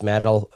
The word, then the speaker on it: Madel: Uh Matt rhymes with battle. Nailed it. You nailed it. It rhymes with battle.